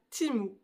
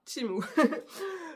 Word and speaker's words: Temu: vidéo aujourd'hui unboxing spécial timou oui je prononce ça comme ça timou donc j'ai été contacté